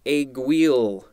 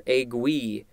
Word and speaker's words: aiguille: Next, we have the word aiguille or aiguille. Thank God for the pronunciation, because I would have trouble with these.